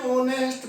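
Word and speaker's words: honest: जैसे ही इज एन ऑनेस्ट person, ऑनेस्ट एस शुरू में आया, एच एन ई एस टी, लेकिन ओ साइलेंट रहा और एच साइलेंट रहा, ओ का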